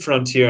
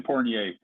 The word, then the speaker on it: Fournier: I said Frontier, and that's definitely not right. Evans. Oh, Evan Fournier. They picked up Evan Fournier, and he's been averaging